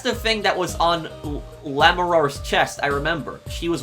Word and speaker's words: Lamiroir: I think you're supposed to say Lamiroir, because I think that in French, the R is supposed to be silent at the end, but somebody let me know if I'm pronouncing it correctly.